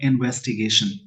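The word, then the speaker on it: investigation: ध्यान से समझेंगे, जिस वर्ड के सफिक्स में यानी लास्ट में टी आई ओ एन लगा हो उसका प्रोनाउंसिएशन हो जाएगा शन, यानी शाम वाला श। इसको ध्यान से समझेंगे। तो इस हिसाब से इस वर्ड का प्रोनाउंसिएशन होगा इन्वेस्टिगेशन इनटू द डिरोगेटरी, यानी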